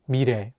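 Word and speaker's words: 미래: example with the word mire meaning future here the real consonant is between the vowels e and a so it'll have more of an r sound let's say together mi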